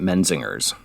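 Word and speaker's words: Menzingers: I've ever said it I've always heard it men singers so not putting the emphasis on the G or J no uh it's like men and zingers men zingers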